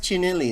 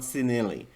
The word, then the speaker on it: Cinelli: i think it's pronounced chinelli as well not cinnali because i'm learning italian i think it's i think it would be chenille so the chinelli ones